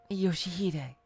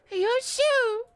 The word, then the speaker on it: Ryoshu: 아니, 그 글자는 그렇게 읽는 게 아니라 No, that's not how you read those letters. 요시대라고 읽는 거다. Yoshihide. That's how you say it. 요슈! Ryoshu!